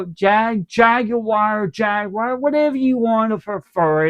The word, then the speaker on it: Jaguar: call it Jag Jaguar, Jaguar, whatever you want to prefer it. It doesn't bother me. I butcher the name many years. I say Jaguar over UK they're saying Jag Jaggy wire.